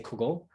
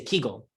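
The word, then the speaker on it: קוגל: Those would say Kugel, whereas those from more southern areas, which alternately might be called Galicianer or Polish or Ingrische, or I personally am an Ukrainische or a Voliner, we say Kegel.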